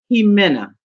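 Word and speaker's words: Jiménez: Kelly did you see her name is pronounced he Menna Thank You boom yes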